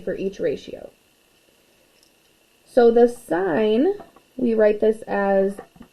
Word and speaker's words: sine: each ratio so the sign we write this as s i n when we abbreviate it but it's still pronounced sign not sin of an angle and